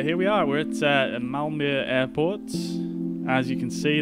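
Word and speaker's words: Malmö: you can see there that is apparently how you pronounce it or although i could be butchering that i realize in english that just reads as malmo um but uh with the um light on the end there i believe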